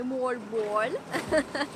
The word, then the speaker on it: Moalboal: Ci hanno detto di dire così, di pronunciare correttamente Mall Ball.